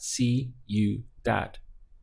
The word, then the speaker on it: ciudad: Spanish is Cu that literally sounds like that see you that we have three syllables